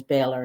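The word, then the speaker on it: Boehler: Um, is my last name, but my maiden name is Balor, and it's, you know, B O E H L E R. So, it's it's spelled differently than what it what how it how it's said differently and what how it's spelled.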